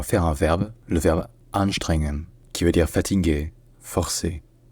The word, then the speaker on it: Anstrengungen: Ensuite, deuxièmement, une deuxième difficulté principale, c'est que le NG en allemand, dans ce contexte-là, ce ne sont pas vraiment deux consonnes différentes. En fait, c'est deux consonnes qui sont prononcées ensemble en faisant un son nasal là où est fait le G d'habitude. C'est-à-dire qu'au lieu de faire N puis G, faites un N, un son nasal, là où normalement est fait le G. Faites un ng, ng, ng, voilà.